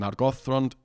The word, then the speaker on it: Nargothrond: And if you ask the tool, where does the stress go in Imladris or Nargothrond, it tells you it's supposed to be Imladris and Nargothrond, because that's what Appendix E says.